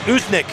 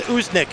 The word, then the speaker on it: Usnik: Usnik. I call it Usnik, if you want a pronunciation for our goalie. It's a hard one. Usnik in set.